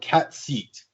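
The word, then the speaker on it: Cait Sith: Technically, the proper Irish Gaelic way of pronouncing it is cat seat. Cat seat. Yeah, but I've always called it Kate Sith because that's the way it's spelled.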